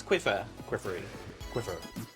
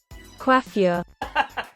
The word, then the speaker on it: coiffure: Cupcake's Quiffer. How do you say that word? Coiffure.